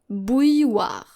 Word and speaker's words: bouilloire: And once again, we encounter a double L here. So there should be a silent L somewhere in this word. And I'm going to spell it right away. B-O-U-I-L-L-O-I-R-E.